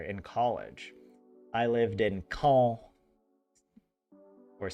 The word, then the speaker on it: Caen: I lived in Caen or c a e n like Khan, but they pronounce it like call.